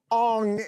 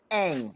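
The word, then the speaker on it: Aang: He made a movie and they called him Ong in the movie. It was when M. Night Shyamalan M. Night Shyamalan made the his Avatar movie. Yes, that was it. Okay, so how do you say it? It's Ang? Ang with with a long A.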